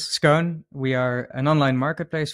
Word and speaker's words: Skoon: is scoon yeah so scon or as we would pronounce it in in the Netherlands scone we are an online